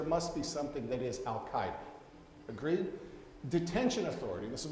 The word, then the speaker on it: Al-Qaeda: Pronounce it the right way. Al-Qaeda.